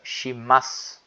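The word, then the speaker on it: します: Então, vocês não vão pronunciar o U no final, né? Fica shimasu.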